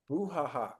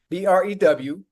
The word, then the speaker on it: brouhaha: I'm gonna spell it how it sound out. How it sound. BREWHAHA. That's what it sounds like to me.